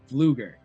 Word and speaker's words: Pflueger: and today joining me is our guest Eric Fluger.